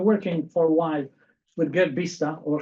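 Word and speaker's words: Gert Biesta: I've been working for a while with Gerd Bista, or Gerd Bista, as is the right pronunciation, and also Herner Severus from Norway.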